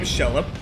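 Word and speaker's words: Xelha: And yes, that's her name, Shella. There you go. In case you were curious about the pronunciation of her name, it is Shella.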